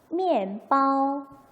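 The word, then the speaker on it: 面包: MIAN인데 읽어볼게요. 미안이 아니고 어떻게 읽어요? EN 소리를 내니까 미엔 하고 읽겠죠? 미엔바오, 미엔바오.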